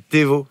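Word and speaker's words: Thévot: Et ce qui est drôle, c'est que Michel s'appelle Thévo, T-H-E-V-O-T.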